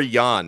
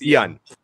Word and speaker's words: Ian: Is it Ian or Jan? I want to make sure I pronounce it correctly. Yeah, it's Ian.